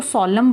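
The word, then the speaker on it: solemn: ठीक है, इसको सोलम बोलना है, इसमें एन का प्रोनाउंसिएशन नहीं है।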